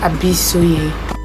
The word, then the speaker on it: Abisoye: It's pronounced as Abisoye.